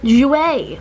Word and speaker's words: Jouer: I forgot even how to pronounce it. No, Jouer, that's it.